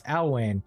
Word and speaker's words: Alwayne: Not Iwayne, it's Alwayne.